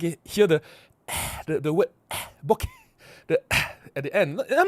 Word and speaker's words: bokeh: Without the H, it's bokeh. If it's with the H, it's bokeh. Bokeh, right? The bokeh. like the way you say it, but the way I say it's bokeh because H is supposed to be silent.